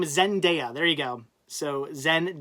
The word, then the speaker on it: Zendaya: name though Zen zendaya Arnie her name is zendaya there you go so Zen day uh yeah